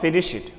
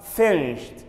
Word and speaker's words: finished: Finish, finished, finished, not finish it. Don't say finish it, finish it. It should be pronounced as finished, finished. We use T sound at the end.